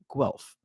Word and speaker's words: Guelph: And our third and final game is going to be McGill versus University of Guelph, which I think I pronounced somewhat right.